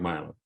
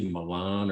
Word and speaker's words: Milo: name was milan my name was milo so yeah and normally people say milan or milan or milan and my